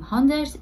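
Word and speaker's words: honderd: مثل زبان انگلیسی که ما میگیم هندرد. اینم میگه هندرد. یه او میاد هندرد. یه ذره تلفظ عوض میشه.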